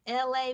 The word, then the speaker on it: Elay: I am LA, pronounced like LA, like the city.